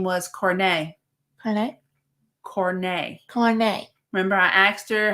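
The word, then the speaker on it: Corné: because some people say corny some people say corn but it was c-o-r-n-e with the accent mark on the E so it's pronounced cornet oh very sweet girl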